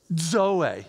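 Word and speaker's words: ζωή: the Greek word Zoe say that not Zoe Zoe phonetically it goes d z o Zoe it's just fun to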